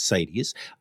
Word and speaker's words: CITES: and CITES, which is spelled like the word the cities, but without one of the I's, kind of like, it's the word sites. What am I doing? Like CITES, like in a paper. But anyway, it's not pronounced that way. It's CITES.